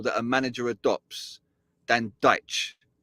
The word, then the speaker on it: Dyche: He calls Sean Dyche Sean Dyche. Like so I'm wondering, first thing I'm wondering is we've been saying his name wrong the whole time, right?